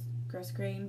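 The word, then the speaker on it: grosgrain: um five yards of just says gross gross grain ribbon is how you say it but it's just white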